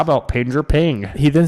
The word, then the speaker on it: PNG: portable networks graphics and always pronounced ping what else are you gonna know you pronounce be ng P well I didn't I just always said P and G yeah I I know